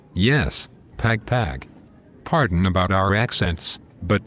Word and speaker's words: Pagpag: Yes, Pagpag.